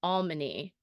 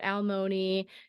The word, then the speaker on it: Almany: And by the way, it is pronounced Almany, not Almoni or alimony or anything like that. It's Almany.